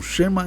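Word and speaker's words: Shema: tanto que ele é chamado de Xem Israel ou alguns pronunciam xema Israel literalmente lá no hebraico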